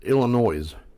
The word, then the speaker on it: Illinois: Oh, another one is Illinois. Yeah, there's one for you. Well, they spell it like that. So, that's a gray area. Yeah, it's supposed to be silent, though.